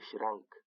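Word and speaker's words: Schrank: لکه شرنک، شرنک یعنی المارۍ، اس سی ها دلته د ش اواز ورکړی دی، د شین اواز یې ورکړی دی.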